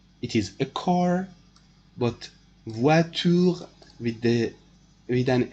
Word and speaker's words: voitures: It is a plural form of the noun, but this S is not pronounced. It is written, but it is not pronounced in the words. Voiture, one car, voiture, cars, but it is not pronounced.